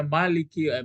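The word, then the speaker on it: مالِكِ: Jadi ini kalau kamu buat tadi ini bisa jadi sifat ustaz tapi dipanjangkan bacanya Maliki ma ditekan baca Maliki yaumiddin.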